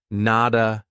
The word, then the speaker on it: not a: So a native speaker is going to pronounce that as a soft D and say, nada, nada.